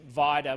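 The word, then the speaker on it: Vida Goldstein: somebody who is polish vitae Goldstein and I say very specifically with that pronunciation Vidor with the emphasis on the eye and Goldstein like beer stein because I once found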